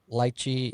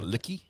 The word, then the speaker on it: lychee: got mango, peach, lychee, and lemon. Laura Lee Annie, spell it out with crayon for those of us who have a really hard time pronouncing things phonetically.